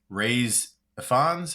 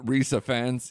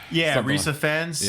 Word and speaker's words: Rhys Ifans: of the movie, honestly, is when they introduce Ray's Ifans. How do you pronounce his name? Yeah, I've never actually looked it up, but like Rhys Ifans, yeah. Rhys Ifans.